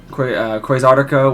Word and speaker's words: Quasartico: Quasartico, which I was correct on my pronunciation.